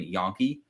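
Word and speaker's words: Jahnke: would anyone but there's two guys on south dakota state with the last name yankee except they spell it j-a-h j-a-n-k-e so i root for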